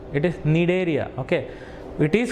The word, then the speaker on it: Cnidaria: Other name for this phylum is Cnidaria. Okay, C usually we don't take silent. It is not called as Cnidaria. That is wrong pronunciation. It is Cnidaria.